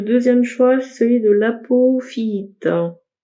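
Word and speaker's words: apophyllite: Le deuxième choix, c'est celui de l'apophyite. Et ça se prononce comme ça.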